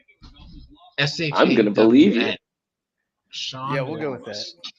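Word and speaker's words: Shawn: Sean Yeah, we'll go with Wallace. Oh, because he's another Sean. S-H-A-W-N. I know, but it's still a Sean. Still pronounced the same, even though it's incorrectly spelled.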